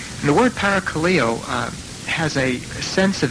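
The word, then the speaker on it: παρακαλέω: the Greek language is paracalillo I probably won't say that when I'm serving the Greek congregation but I think that's the way you pronounce that the word para Kaleo uh has a sense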